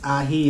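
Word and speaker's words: ají: First one up is this aji, I believe it's ahi if you're pronouncing it correctly, lemon drop pepper.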